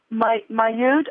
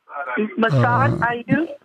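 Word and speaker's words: Massad Ayoob: Mayoud, I don't think I'm pronouncing his name right. Massad Ayub?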